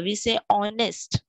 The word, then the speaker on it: honest: H is silent over here. We say honest.